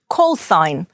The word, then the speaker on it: callsign: signalman або коротко sig callsign позивний літера G не вимовляється procedure Words або prows